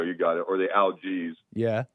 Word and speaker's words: Algiz: It's also called an algiz or algiz, I think is how you say it. It's an algiz.